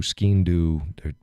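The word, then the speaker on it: sgian-dubh: This right over here is a ski-in-do, pronounced all sorts of different ways. Ski-in-do, skin-do.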